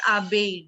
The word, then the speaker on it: abeille: Bhavya, it is abeille. Double L is always silent. When two L's come together, they are always silent.